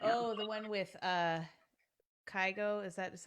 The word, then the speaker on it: Kygo: Oh, the one with Kygo.